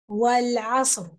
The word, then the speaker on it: والعصر: والعصر. Don't say والعصر. It's not والعصر because صاد doesn't have a فتحة. Okay, صاد has a سكون. So say عصر والعصر.